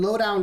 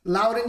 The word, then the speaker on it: Loudoun: players coming in from low down united um fc loudoun united thank you i keep on saying it wrong um seven starts with